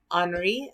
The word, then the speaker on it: Henri: So Henri is how you say his name, de Toulouse-Lautrec.